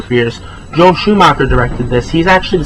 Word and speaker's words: Schumacher: Schm Joel Schum Schumacher, I've been saying his name wrong for years, Joel Schumacher directed this, he's actually the same guy who did Batman and Robin, I believe.